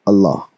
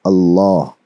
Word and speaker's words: Allah: l a w law the way you pronounce law is very similar to how you would bold the sound of Allah la la here I